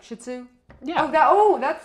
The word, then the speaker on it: shih tzu: with a bad word they really say it's shitzu well there you go that's what the people say you say it really quick like shih tzu yeah oh that sounds